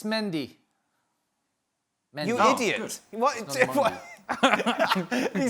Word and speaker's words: Mendy: was interested in the the mondi mendy her pronunciation frank what are we going for uh it's mendy you're an idiot he said that with such